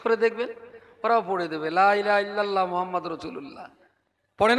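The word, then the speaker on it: لا إله إلا الله محمد رسول الله: মক্তবে পড়ে মাত্র 30-40টা বাচ্চা, বাকি 550 বাচ্চা লা ইলাহা ইল্লাল্লাহ মুহাম্মাদুর রাসূলুল্লাহ এই কলমাটা শুদ্ধভাবে কোথায় পড়তে শিখবে?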